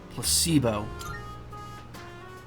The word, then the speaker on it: placebo: to our vocabulary today repeat after me placeo the stress is on the middle syllable Placebo very good you're feigning interest well